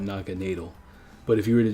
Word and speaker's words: Naganadel: So it's Naga and then natal. But if you just read it like whatever, you would say Naga Nadel, because you can't say dill. You can't say dill. But in Germany, in the German language, you would pronounce this natal. So if you were to respect it for its name origins, you would call it Naga natal.